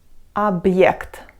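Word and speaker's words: объект: B or B then if we put the hard sign after but we will pronounce as but just like you would normally do and we kind of make a break between but and the next sound and we'll read as object object or object that's basically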